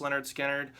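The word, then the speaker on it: Lynyrd Skynyrd: Leonard Skinner this is the album pronounced Leonard Skynyrd um you know what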